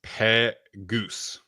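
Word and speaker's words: Pegues: According to the Ole Miss pronunciation guide, it is Pagis.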